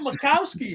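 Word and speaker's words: Majkowski: Well, Macowski had a J, but they didn't pronounce it, right?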